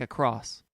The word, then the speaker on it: across: in everyday conversation like a cross like across mm-hmm a word that I normally pronounced with the T at the end of it I am working diligently